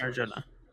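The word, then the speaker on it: Arjona: I don't know or how to say the Arona. last name. That's Arjuna.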